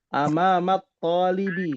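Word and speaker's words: أمام الطالب: Amamat talibi. Karena bertemu dengan huruf syamsiyah, at-talib. Ya, alif lamnya ada huruf toknya, maka dibacanya amamat talibi.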